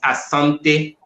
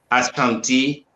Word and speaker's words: Asante: from Ashanti people uh the real world for us is Asante but the Europeans pronunciation make it Ash County uh we keep it